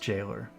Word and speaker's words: gaoler: Oh, I guess it's an old variation of jailer. And it's even pronounced jailer.